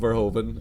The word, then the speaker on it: Verhoeven: starship troopers directed by one paul verhoeven which i think is how it's probably pronounced everyone just calls him verhoven and i'll do that from now on yeah so uh